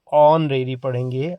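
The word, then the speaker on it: honorary: अवैतनिक अवैतनिक ऑनरेरी आप जानते हैं साइलेंट है तो ऑनरेरी पढ़ेंगे।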